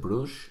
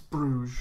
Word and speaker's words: Bruges: bruises one of them can you pronounce it bruce or do you say bruce's it's bruges yeah because i heard some